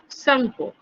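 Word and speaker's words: Tsangpo: টিটা উচ্চারণ হবে না, সাংপো।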